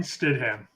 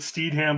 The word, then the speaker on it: Stidham: guy his name Jason Stidham Jason Statham Stidham it might be pronounced a little bit Steed ham but I I'm just going off how it's spelled s-t-i-d-h-a-m Stidham yeah so um yeah